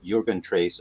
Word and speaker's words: Jürgen Treyz: So I am here with Gundrun, Walther and Jürgen, Treyz of Deitsch.